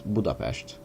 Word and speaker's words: Budapest: pretty close to pest I'm I'm pronouncing it the English for the Hungarian way so then the uh noal way of saying it is budapes I know because I'm